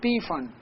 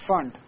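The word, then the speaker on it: Pfund: fun it is not P fun P is silent here it's fun and Humphrey series ok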